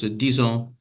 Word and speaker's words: disons: Yeah, the only other thing is, of course, disons is pronounced as if it's a Z as Ah, well.